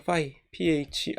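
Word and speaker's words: φ: 파이, phi. 그래서 지금 이 파이는 얘를 얘기하는 거예요. 요거는 이제 p 발음으로 파이가 되고, 얘는 F 발음으로 파이 이렇게 이제 발음을 하면 되겠습니다.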